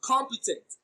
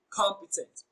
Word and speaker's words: competent: But competent receives the stress on the first syllable, com. So the answer is option A, competent. Is a very competent person.